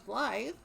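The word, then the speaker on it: Blaidd: with wythe everybody loves blithe i think i i i think right he's popular with the kids right it's like his name is spelled with a d but it's pronounced with the th that's so dreamy that's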